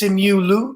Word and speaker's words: Simu Liu: I mean, listen, I always mispronounce his name. It's Simu Liu.